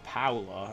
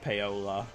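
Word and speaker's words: Paolo: on Big Brother once p a o l o is paa not poola but it's interesting um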